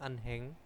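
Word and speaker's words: 은행: bahasa Koreanya itu adalaheng Ini ada yang membaca ini di Korea sendiri itu ada yang membaca unheng hanya itu dibaca jelas ada yang langsung dibaca Eneng ya Nah itu eh masih kalau hiat itu Kalau bertemu dengan Bim gitu ya itu ada yang dihilangkan ada yang enggak jadi biasanya itu bacimnya itu menggantikan hat kalau saya sih lebih suka ke ee jadi hiat-nya itu tidak terbaca mungkin nanti kosakata tertentu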